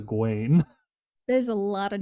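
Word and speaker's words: Egwene: pronunciations of everything and so my brother thought of gwen's name was eggwijn because of the way it's spelt no i get it i was like it's a gwain there's a lot of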